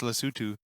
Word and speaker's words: Lesotho: Oh, it is Lesotho. It's Lesotho. Proper way to say it, yeah.